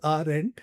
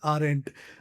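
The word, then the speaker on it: Arendt: A link that aren't, so this is pronounced as aren't, right? D is silent, so you just simply pronounce it as aren't.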